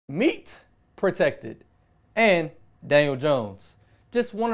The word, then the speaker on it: Protect3d: find out what they got going on meet protected stylize with the three force three founders but pronounced protected there are dormbase start-up specializing in customized medical